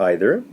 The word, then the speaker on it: either: in both examples here also either can be pronounced either or either and uh either or is